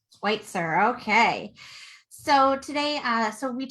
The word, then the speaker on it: Schwytzer: Schwytzer. Schwytzer, okay.